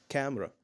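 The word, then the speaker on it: camera: هقول عليها كاميرا بالانجلش لازم هنشيل منها حرف الاي يعني ايه يا مستر يعني النطق الصح بتاعها ازاي قول عليها كاميرا كاميرا كاميرا مش هقول كاميرا لازم الصح بتاعها كامرا ك كامرا كامرا لو انت عارف المعلومه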